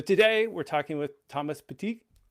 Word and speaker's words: Petit: So today we're talking with Thomas Petit. Tried the French pronunciation this time instead of just saying Thomas Petit.